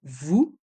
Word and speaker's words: vous: Vous voyez, il y a le son OU dans le mot vous et le S est muet.